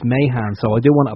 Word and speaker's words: Mahan: we generally ask, what we thought we had yours, Mahan, because that's how it will be pronounced here. But you just said it's Mahan.